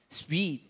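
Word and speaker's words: suite: โยง ห้อง เลย นะ อัน นี้ ต้อง อ่าน ว่า ห้อง Sweet sweet ออก เสียง ตาม นิชา ค่ะ Sweet ส เ เนี่ย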